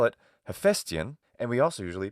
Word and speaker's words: Hephaestion: and pronounce his name Hephaestion or something, with the AI spelling, meaning alpha iota. in ancient Greek. Now, in ancient Greek, this diphthong is alpha iota, and it's pronounced ai in classical Attic.